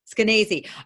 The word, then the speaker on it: Skenazy: How do you pronounce her name, actually? Skenazy.